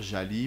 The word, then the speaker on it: Jally: pour eux pourquoi je préfère aussi on dit jali mais après chacun va dire comme il veut djabi jelly jali j'ai pris pour habitude de dire jali parce que le gie en langue française se prononce j donc voilà et alors c'est un